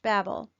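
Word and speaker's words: בבל: so let's get started Babylon is three Hebrew letters Beit Beit Lahm ed and is pronounced Babel in the ancient pictograph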